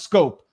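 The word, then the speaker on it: Schoop: years jay not j-a-j the other one is scope scope like the uh the mouthwash can you just get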